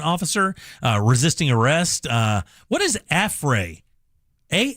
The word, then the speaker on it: affray: Is it pronounced like affray? Yeah, A F F R A Y. Affray.